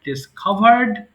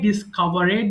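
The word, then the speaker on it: discovered: ডিসকভার আবিষ্কার করা ডিসকভার ডিসকভারড ডিসকভারড এটা অনেকে ডিসকভারেড বলে ফেলে ভুল করে আমরা ভুল করি না ইনশাল্লাহ সো আমরা ডিসকভারড বলবো ডাবল দ্বিগুণ করা ভুল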